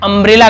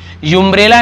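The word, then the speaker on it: umbrella: बताया था मैंने अम्ब्रेला, अब आप इसका उच्चारण जो कर रहे हैं अम्ब्रेला कर रहे हैं, युम्ब्रेला नहीं कर रहे हैं क्योंकि अम्ब्रेला यही उच्चारण करने का तरीका है।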